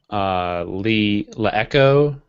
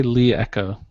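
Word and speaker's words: LeEco: My fail is gonna be La Echo. Is that how you say it, Chris? La Echo? They say Lee Echo.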